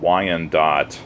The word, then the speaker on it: Wyandotte: Uh, these are all made by a company called Wandot, which is spelled W Y A N D O T